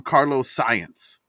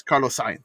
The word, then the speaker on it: Carlos Sainz: he's so mad with he calls him Carlos Science. Yeah, I like that. Like he can't even say his name right. So Carlos Sainz, love him. It's Carlos Sainz.